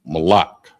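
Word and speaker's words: מלח: grains and baked goods, under salt, and it's pronounced malak.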